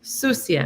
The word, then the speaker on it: sucia: C is like an S. Sucia. Accent on the sucia.